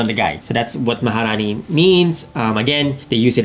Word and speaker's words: Maharani: Is that the same thing as Marahani? Maharani? What? Did I say it wrong? Yeah, you said Marahani. Wait, how are we supposed to say it? Maharani.